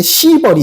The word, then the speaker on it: 시벌: 자, 그 다음에 보면 이제 121페이지에 발음 좀 잘해야 되는데 시벌이 있고요. 시벌은 벌을 시행하는 겁니다. 벌을 주는 거예요. 너무 시게 발음하지 마세요.